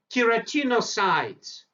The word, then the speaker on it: keratinocytes: in the stratum Baseline try to pronounce it keratinocytes tiratinocytes word keratinocytes consist of two different words keratin and cells keratinocytes produce keratin a